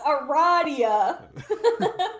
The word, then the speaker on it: Aradia: Now Aradia. It is pronounced Yes, Aradia. it is pronounced Aradia.